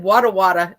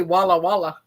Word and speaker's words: Walla Walla: right and I think I even said it wrong I said water water it's actually Walla Walla Walla Walla uh-huh come